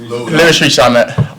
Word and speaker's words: Rees-Zammit: I've heard many different ways of saying it, but Rees-Zammit.